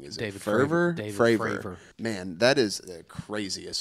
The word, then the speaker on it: Fravor: I sincerely urge anybody who's never fully heard that Nimitz encounter with Commander, I keep saying his name wrong. Is it David Fravor? David Fravor.